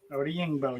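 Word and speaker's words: Odeyingbo: Is it Oda Yingbo? Did I say that correctly? Did I pronounce that correctly? Oda Yingbo, yeah.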